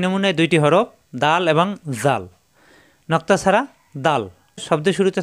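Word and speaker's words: ذال: এই যে কায়দায় থাকবে এরকম, উপরে এক নক্তা, জাল, নরম করে উচ্চারণ, জাল।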